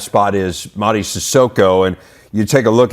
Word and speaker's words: Sissoko: As we learn in today's edition of our Big Spotlight, Sissoko's come a long way, literally and figuratively. The way you pronounce my name is Madigundo Sissoko, but back home people call me Madiganda.